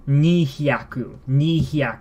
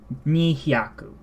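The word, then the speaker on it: 二百: So, as one would expect, 200 is nihyaku, 200. Just like how 20 is niju, 2 tens, 2 100s, nihyaku.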